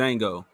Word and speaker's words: Django: might have turned into django the d is silent no no blue suit